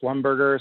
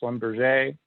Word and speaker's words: Schlumberger: I think of that, I will butcher the pronunciation, but some people I think say Schlumberger, some people say Schlumberger.